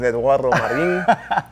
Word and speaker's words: Eduardo Marin: You have to say it like that. My name is Eduardo Marin.